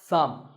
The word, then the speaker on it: thumb: fact in many words when you have the letter combination M B the B is silent if I had a